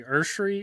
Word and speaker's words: Esuary: your name right uh it's actually ursery it's not spelled that way at all but that's how you pronounce it okay all right